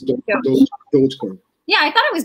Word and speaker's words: Dogecoin: And then is it pronounced Doja? It's Dogecoin.